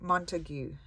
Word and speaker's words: Montague: Extraordinary Collections by Marin Montague. I think, is that Montagut? It says Montagut, how you spell it, but I would say you pronounce it Montague.